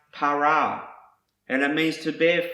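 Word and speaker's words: פָּרָה: you're in my presence the next word is pronounced para and it means to bear fruit be fruitful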